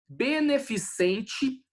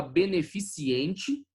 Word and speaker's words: beneficente: O D é mudo. Beneficente, tem gente que fala beneficiente, né?